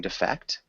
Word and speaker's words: defect: So we have two words that are spelled the same way. So one is pronounced maybe defect. Yes. Defect. And this is a verb, and it's like to abandon or to leave. And then a defect is a little bit different. It's a noun, and it's a problem